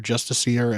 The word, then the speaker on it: Justiciar: point where I'm going to need to fuse Justicar or Justiciar, as it is pronounced here.